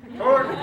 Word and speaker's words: torque: do we got gang begins with a T rhymes with dork torque torque okay what's the torque